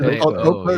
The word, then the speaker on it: Eau Claire: It's pronounced Eau Claire. It's called Eau Claire. Yeah. It's not like it's Eau Claire.